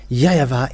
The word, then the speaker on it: YAHVAH: In Eastern part, the W for them, they pronounce it as V or B.